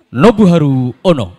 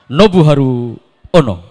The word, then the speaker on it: Nobuharu Ono: Samsul adalah Abdul Hamid nobuharu ono nah orang Jepang kan bacanya harus begitu Abdul Hamid nobuh haru ono pertanyaan ke-10 pertanyaan ke-10